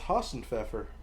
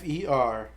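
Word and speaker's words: Hasenpfeffer: Rabbit stew in German is Hassenpfeffer. That's what that is? Hausenpfeffer. Pfeffer. The P is silent.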